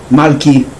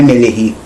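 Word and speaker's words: מַלְכִּי: A palavra rei, Meler, meu rei, Malki, não é Meleri, é Malki, porque flexionou, sofreu alteração.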